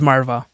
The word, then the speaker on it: Marwah: want to butcher your last name can you pronounce it for me please oh it's Marva Marva Marvin Marva yeah there we go that's actually super easy